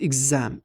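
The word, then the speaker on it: exam: مشاكل هو بيقول لك مره بيتنطق جز اهي شبه بوكس بوكس بوكس انما هنا جز از اجزام اززام اززام ندخل بعد كده على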